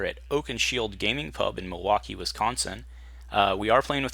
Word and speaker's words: Milwaukee: Indian name the espied it is actually it's pronounced Milwaukee which is Algonquin for the good land dice